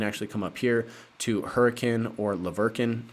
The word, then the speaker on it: Hurricane: come up here to hurricane or laverkin I don't know why it's pronounced that way but it is it's pronounced hurricane this is going to